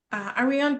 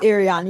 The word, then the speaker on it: Arion: Are we on and Simone and then darling Arian, please correct me if I'm pronouncing your name wrong. It's it's Arion. You're very, very close.